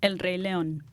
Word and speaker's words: El Rey León: Real quick though, how do you say Lion King in Spanish? El Rey León. El Rey León. El Rey. El Rey. El Rey. Rey. El Rey. R-E-Y. El Rey. Like the theater.